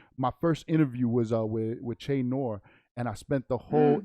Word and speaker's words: Che Noir: She's like, no, it's Che Noir. You pronounced it wrong.